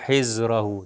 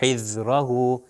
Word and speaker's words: حذرہ: حذرہ حذرہ، اگر میں غلط کروں تو ہو جائے حذرہ. دیکھیے زے، وہ زے کا تلفظ ہوگا رے زے والا، اس دال کا جو ہے تلفظ صحیح ہے حذرہ حذرہ.